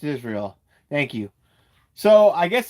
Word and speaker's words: Israel: Uh, it's not pronounced is real. Uh, it's pronounced Israel.